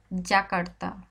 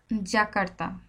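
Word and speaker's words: Yakarta: যে বর্গের জ দেখছেন বর্গের জ একটু মাঝখানে গলার মাঝখানে রেখে জ এর মত উচ্চারণ হবে লাকারতা জাকারতা জাকারতা লাকারতা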